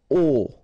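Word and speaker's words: aux: get this AIX okay and then phonetically you produce it or you pronounce it o okay so here o masculine form plural form o as well and for your information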